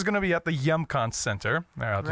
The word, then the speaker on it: Hjemkomst: It's called Hjemkomst. Oh, And it means homecoming. Oh, okay, very cool. And Yeah. it's so you just drop the H sound altogether, and it's got that J. Hjemkomst.